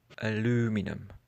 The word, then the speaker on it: aluminium: Aluminum. Aluminum, as Americans would say. No, sorry, but aluminum just sounds ridiculous to me. I understand that it's easier to say than aluminium, but it's only one syllable less, so I don't see